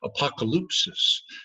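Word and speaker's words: ἀποκάλυψις: that word revelation, is a Greek word that you could spell in English kind of like this: apocalypsis. And that's how you say it, apocalypsis. And that word has a historical and cultural background.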